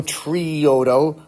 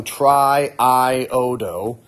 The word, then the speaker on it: triiodo: these doubles in here so we don't go trioo we go triiodo and instead of going Duane there it's iodo